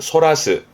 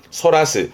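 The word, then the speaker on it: 逸らす: 발음은 소라스 소라스 이것 또한 놓치는 건데 주로 딴 데로 돌리는 쪽으로 씁니다.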